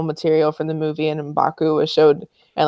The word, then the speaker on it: M'Baku: And they kind of did the same thing with Manape in this film with M'Baka. Is that how you say his name? M'Baku. M'Baku. Sorry.